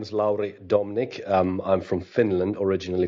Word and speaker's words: Laurie: totally okay so uh uh is it am i pronouncing it right now pretty much yes um absolutely uh thank you very much jody um yes my name is laurie domnick i'm from finland originally from germany um